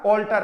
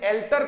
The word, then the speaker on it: alter: ALTAR, एक ER वाला है और एक AR वाला है, दोनों का प्रोनाउंसिएशन ऑल्टर क्या होगा, ऑल्टर। प्रोनाउंसिएशन में किसी भी प्रकार की कोई प्रॉब्लम नहीं, लेकिन एल्टर कोई वर्ड नहीं होता, ऑल्टर होता है।